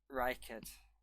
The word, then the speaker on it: Reichard: Say it right. Reichard. There you go. Do you know what I keep thinking about to make sure I'm saying it right? Reichard. Reichard from Star Trek, yes.